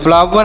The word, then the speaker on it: flower: FLOWER तो FL क्या होगा, आधा फ और ल, OW का उच्चारण वह होगा, आर से होगा र, तो इसे ER से र, इसे पढ़ेंगे फ्लावर।